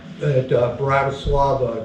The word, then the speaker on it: Bratislava: we went across the border from Austria at Bratislava. I think I'm pronouncing that semi-right.